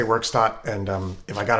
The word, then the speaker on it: Werkstatt: recently got the moogworks.o1 i wasn't sure how to pronounce it a lot of youtubers were saying workstat it looked german to me so i thought maybe verstat but i'm gonna say workstop and um if i